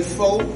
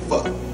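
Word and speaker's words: phở: I know most people say pho, but the proper pronunciation for it is pho.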